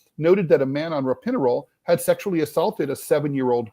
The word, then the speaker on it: Ropinirole: She says she was not, is it Ropinirole, or do you know how to pronounce that? Ropinirole, that's it. Ropinirole. She said she was not warned by the doctors about any side effects.